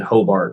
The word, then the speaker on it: Hobart: then and then hobart which is like you spell my last name exactly how phonetically sounds uh h-o-b-a-r-t yeah i'll